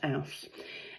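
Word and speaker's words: Els: It is spelled E-L-S, but it's pronounced Alce.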